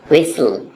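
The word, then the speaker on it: whistle: यहाँ पे T silent है, विसल।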